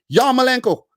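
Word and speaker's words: Yarmolenko: yo yo malenko he's he actually said his name and said it properly and pronounced it in proper ukraine and everything ukrainian yamalenko andrei andre yamalanka come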